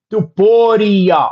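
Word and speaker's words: Topuria: YT says he's saying pronounce the I in taporia. Doria. Okay. Got it. Duporia.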